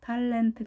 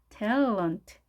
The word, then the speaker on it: talent: 탤런트가 아닌 트에, 을, 은트. 자, 강세 앞에 있겠죠? 이렇게 되겠죠. L 발음이니까 tell 해주시고 talent, talent, talent. 탈과 텔은 너무 다르죠. 그래서 탤런트로 하는 게 아닌 talent, talent 이렇게 발음하십니다.